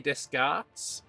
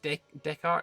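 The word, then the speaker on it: Descartes: We have Renee Deskarts. Um which will be nice as well. It's Decart.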